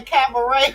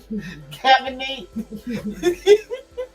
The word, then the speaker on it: cabaret: Boy, she can't even say cabaret right. What does she call it? Cabernet. This is Jocelyn Cabernet. You be like, girl, that ain't even how you say it. I'm gonna need you to say it right. But she couldn't even say the word right.